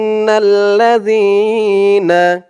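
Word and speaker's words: إِنَّ الَّذِينَ: পরে ইয়া সাকিন আর জালের উচ্চারণটা একদম নরম পাতলা হবে জিহ্বার মাথা উপরের দাঁতের মাথার সাথে লাগবে জালের উচ্চারণটা করার সময় না ইন ইন্নাল্লাজিনা ইন্নাল্লাজিনা ইয়া দিয়ে সিন ধরবেশু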